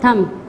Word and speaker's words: thumb: Number 1 is lamb, comb, climb, crumb, thumb. When we say these words, we don't pronounce B because B is a silent word.